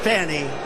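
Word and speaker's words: Fani: they're doing right now it's all look at fonnie f a n i it should be pronounced Fanny Fanny is a double wide fonny they say she gets very upset if you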